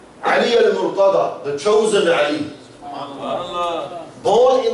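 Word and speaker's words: المرتضى: Murtaza is how we pronounce in Urdu, Punjabi. But in Arabic is al-Murtada. Ali al-Murtada, the chosen Ali.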